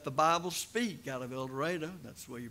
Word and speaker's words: El Dorado: program called let the Bible speak out of El Dorado that's the way you pronounce it up there El Dorado Arkansas and it was a very good one